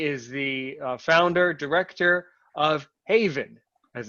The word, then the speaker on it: HAVIN: joins us he is the founder director of haven as it's pronounced houston area visually impaired network how are